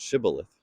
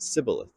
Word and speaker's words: shibboleth: to pronounce the word shibboleth. Now, this is because the people that they were trying to, attack could not pronounce the sh sound. So they would say it sibboleth.